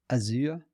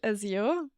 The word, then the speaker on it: Azure: Azure? Yeah, I mean, I think in my variation of English, Azure, like a y, Azure.